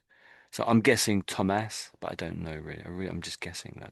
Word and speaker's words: Thomas: as Thomas Thomas and I know it's th and normally it was every most sort of th's are th and this is one of those occasions when it it just isn't so we pronounce that as Thomas.